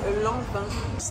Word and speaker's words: Lanvin: It's l'envin. Longfan is a Chinese word. Not l'en. No N. We don't pronounce the N.